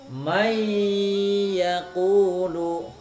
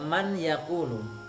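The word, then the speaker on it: مَن يَقُولُ: hilang Hai tulisannya sepatunya Tapi bacanya menjadi May yaqulu meiyaku Luk tidak Man yaquulu hai mei aku loh ah seperti itu kemudian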